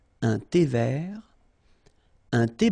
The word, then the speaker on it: vert: Un thé vert, final T not pronounced. Un thé vert.